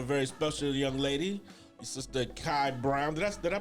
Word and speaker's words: Kai Brown: And also have a very special young lady, Sister Kai Brown. Did I pronounce it right?